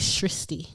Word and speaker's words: Shristi: Her name is Shristi. Rhymes with Christy. Yeah. And I've been calling her Shame Shirsti.